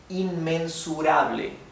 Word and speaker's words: inmensurable: Inmensurable, inmensurable. Also, notice how open the E, the Spanish E is. It's ble, not ble, that, right? It's ble, inmensurable, right?